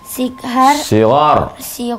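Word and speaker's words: صغار: Sigar. Kalau G tambah H, ghain bacanya.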